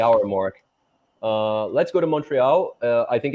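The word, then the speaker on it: Montréal: first You tell us, how do you pronounce it? Say it again. Montreal.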